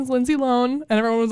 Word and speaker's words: Lohan: oh god i love it my gosh i learned last week that we've been saying lohan wrong the whole time her last name is pronounced lone no it's not oh